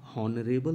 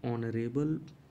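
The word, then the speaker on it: honourable: गौर से देखेंगे तो एच ओ एन ओ यू आर ए बी एल ई इसको हम हॉनरेबल नहीं पढ़ते हैं क्योंकि एच यहां पर साइलेंट हो जाता है तो एच की जो आवाज है जो हा है वह साइलेंट हो जाती है और फिर हम ओ वर्ड से पढ़ना इसको स्टार्ट करते हैं दैट इज वई हम इसको नरे बल पढ़ते हैं यहां पर ए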